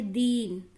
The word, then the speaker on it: दीन: तो आप यहाँ जल्दी से बोला आपने दिन, और आपने यहाँ पे देर करके बोला दीन, ना कि दिन। अब इसको बोला दीन। दोनों का उच्चारण में डिफरेंस देखिए, दिन, दीन, दिन, दीन। यानी कि जो थोड़ा सा हम जिसको देर तक कर रहे हैं वो होती है बड़ी ई, और जो छोटा ई